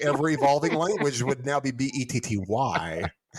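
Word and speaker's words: Bette: featured the worldwide hit bet davis eyes this became the bet betty no that's the name it's betty but it's spelled that way it is that's an old school betty but it's betty davis yes i take issue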